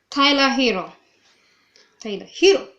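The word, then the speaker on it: Herro: Tyler Hero.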